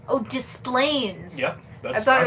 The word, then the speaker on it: Des Plaines: Oh, Displains. Yep. That's I thought how it it's was. pronounced. I thought it was like this Plains.